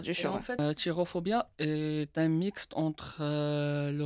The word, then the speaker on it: Cherophobia: Et pour revenir à la pièce, donc ça se prononce Chirophobia. Exactement. Parce oui. que je dis Kérophobia.